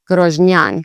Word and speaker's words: Grožnjan: So this Z with an accent or Z with an accent is Ž, so Grož, and this is a Nj. Again, that's one letter, the NJ together. So you'd say Grožnjan. And this one, the emphasis is a bit more actually on the last part of the word, which is fairly uncommon.